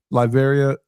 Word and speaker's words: Latveria: I was so happy to see, how do you pronounce the name of Doom's country? Latveria? Latveria.